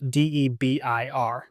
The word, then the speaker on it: Debir: Debir sounds like a beer, but it's actually spelled d e b i r, but it's pronounced Debir, which I think is funny.